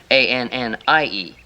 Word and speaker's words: Annie: See, look, if you want to make this Annie, then we have to put right here, between there, an I. See? A-N-N-I-E. See, now the I is silent. Now that's Annie.